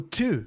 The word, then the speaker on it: to: E cuidado com a pronúncia, não é to. Two é o verbo mastigar com ch em inglês. O to não tem o chiado do ch, é mais na ponta da língua.